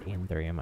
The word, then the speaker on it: anthurium: It's anthurium.